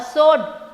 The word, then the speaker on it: sword: W is silent. So a sword a sword was hanging over my head.